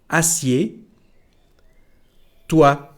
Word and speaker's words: assieds-toi: So here we don't pronounce the letter D nor the letter S. Assieds-toi.